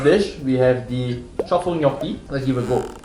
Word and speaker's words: gnocchi: Next, we have the antipasti from Squisito, the truffle gnocchi, and the seafood black ink pasta.